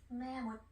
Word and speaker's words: แม่มด: 매못 해서 여자 마법사 들어가요. 매못 매못 매못 매못 매못 여자 마법사.